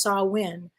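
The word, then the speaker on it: Samhain: Celtic Festival called called saw win if I'm pronouncing it incorrectly let me know it's spelled s-a-m-h-a-i-n but it's pronounced saw win and the Celts lived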